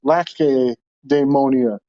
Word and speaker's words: Lacedaemonia: I think that it's a hard C. Lacedaemonia.